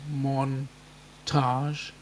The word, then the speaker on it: montage: It actually has 2 syllables. Montage.